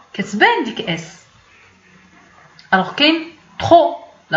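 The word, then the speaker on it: trop: الوغ كاين ترو، لا لاحظتي كاين هنا تي ار او بي، ولكن فاش غادي نطق بها انا كنقول ترو. يعني هاد بي هذا ما بانش في النطق فاش نطقت بيه.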